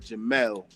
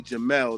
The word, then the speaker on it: Jamil: But actually um my mother pronounced it she spelled it J A M I L but she pronounced it Jamal. So it's actually Jamal.